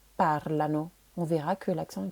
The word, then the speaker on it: parlano: L'accent va être décalé sur la première syllabe parlano.